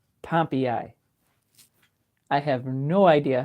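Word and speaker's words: Pompeii: Here's how you pronounce Pompei in Michigan. Pompy.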